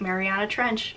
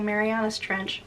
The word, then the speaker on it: Mariana Trench: let me say it right, Mariana Trench, I always want to say Marianas Trench...